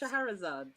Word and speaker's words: Shahrazad: But it's pronounced Shahrazad. Shahrazad. Okay. Shahrazad. If anyone watches Pokemon, then Shahrazad, that kind of Hey.